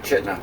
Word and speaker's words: Chitina: I thought it was Chitina, but everybody's saying Chitina, so I'm assuming it's Chitina. Yeah, nobody pronounces the second I.